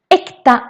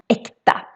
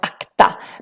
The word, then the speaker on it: äkta: also have real mayonnaise, äkta. And when you see this for the first time, then maybe you think it should be pronounced akta. But no, that means something else in Swedish.